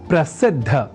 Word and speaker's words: प्रसिद्ध: या न लिखकर हम प्रसिद्ध अर्थात द और बाद में ध इस अक्षर विन्यास से युक्त शब्द प्रसिद्ध का ही लेखन और तदनुसार शुद्ध उच्चारण करेंगे।